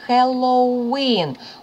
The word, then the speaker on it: Halloween: І наголос маємо на останньому складі. Halloween. Ось цей маленький апостроф – це наголос, сильний наголос. Halloween.